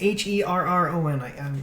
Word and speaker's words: Herron: It's Herron. I'm not sure exactly how you spell or how you pronounce it.